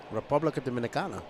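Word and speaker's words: República Dominicana: Republica Dominicana, that's how you say it.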